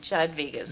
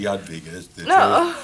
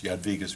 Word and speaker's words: Jadwiga's: I guess it's really J Vegas no it's actually Yad vas J is pronounced like a y number of little conflicts